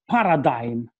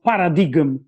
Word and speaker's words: paradigm: bit about epistemological uh change of paradigm or paradigm if we want to use the greek word you know these americans say paradigm because they are barbarians okay now the